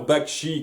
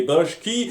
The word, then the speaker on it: Bakshi: Alors, nous avons Vanellope que j'ai appelé Pénélope, le manchot Pablo que j'ai appelé Pedro, le réalisateur Bakshi que j'ai appelé Bashki, et même quand j'ai les bons noms en tête, je sais pas les prononcer.